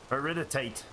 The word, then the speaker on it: iridite: Iridite, as I believe it's properly pronounced. That's how a geologist I listened to said it. Iridite. Emphasis on the second syllable.